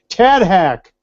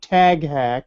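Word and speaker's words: TADHack: TAD Hack. Not Tag Hack, as I said when James Tagg was with us.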